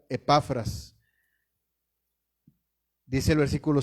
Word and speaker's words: Epafras: Espero estar pronunciándolo bien, dado que si no tiene acento en la E, aunque sea mayúscula, se debe pronunciar Epafras.